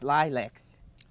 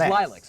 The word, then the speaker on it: Lileks: We are with James Lileks.